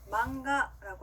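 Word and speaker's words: 漫画: 자, 만화라고 하는 일본어 단어, 여러분들 이 단어도 많이 들어보셨을 것 같은데, 망가라고 합니다. 따라할게요. 망가, 망가.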